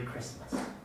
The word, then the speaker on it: Christmas: the birth of christ so the tea we understand the meaning where it comes from but it doesn't get pronounced and even when it gets